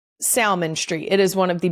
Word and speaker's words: Salmon Street: S A L M O N as in the fish. But it is Salmon Street.